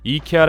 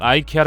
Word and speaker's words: IKEA: 때문인 것으로 보입니다 사실 북미 권 이케아 에서도 사내 공식 빠른 법은 이케아 라고 읽는 것이라고 꾸준히 홍보하고 있지만 말이죠 하지만 워낙 아이케어 라는 발음이 널리 퍼지다 보니 미국과 캐나다 쪽에서 는 여전히 아이키아 로 발음하고 있으며 정작 이케아 라고 하면 아무도 못알아 듣는다고 하죠 영어 권이라도 영국 같은